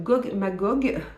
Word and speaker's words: Gog Magog: plutôt engagée, avec leur nouveau roman qui s'appelle Gog Magog, ça va, je l'ai bien prononcé, de Jeff Noon et Steve Beard.